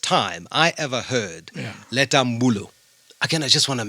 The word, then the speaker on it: Mbulu: Take the time, for goodness sake, to pronounce it correctly. Yes. She's legendary, like beyond. It's Leta Mbulu. Aha, that's true. That's her name. Yeah. Not willy-nilly, it's Mbuli today, it's Mbule. No, it's Mamleta Mbulu.